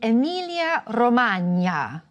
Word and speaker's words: Emilia-Romagna: The first item you might have noticed was "gn": This is pronounced like "canyon." We saw it in SARDEGNA. And in EMILIA ROMAGNA.